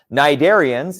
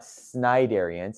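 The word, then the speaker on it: cnidarian: you can think of them like that okay narian yes that sea is silent it's not sidari it's nid darians okay narian like jellyfish and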